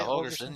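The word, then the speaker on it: Holgorsen: freaking game, why can't Matt Rule and Dana Holgerson, is that how you say it? Holgerson, yeah.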